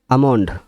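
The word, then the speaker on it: almond: calf মানে বাছর আমন্ড আমন্ড মানে বাদাম আমন্ড এল এমও এনডি আমন্ড এলটা সাইলে এখানে দেখবে উচ্চারণ আমন্ড এখানে এল উচ্চারণ হচ্ছেই না তার মানে এগুলো সব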